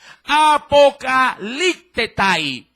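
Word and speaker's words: ἀποκαλύπτεται: El término manifestar en griego, mi querido hermano, en este caso lo leo de una manera muy literal, se podría bien pronunciar con la siguiente expresión: apocalictetai.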